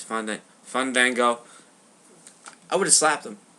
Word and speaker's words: Fandango: Fango. No, it's Fun Vango.